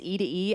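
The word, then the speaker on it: E2E: say and end with it's e to e I mean if they're both one syllable how lazy that's quite the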